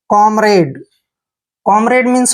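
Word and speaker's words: comrade: हैं क ऐसे क एम को म पढ़ते हैं आर ए को रे पढ़ेंगे और डी ई को डे पढ़ते हैं कॉमरेड कॉमरेड मींस होता है साथी कॉमरेड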